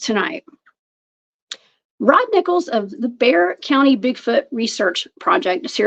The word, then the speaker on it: Bexar County: through his Instagram page Bear County Bigfoot it looks like beer County Bigfoot y'all but it's pronounced Bear County please help me welcome